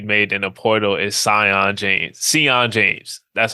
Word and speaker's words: Sion: But the biggest pickup I think that we made in the portal is Sion James. That's how you pronounce his name.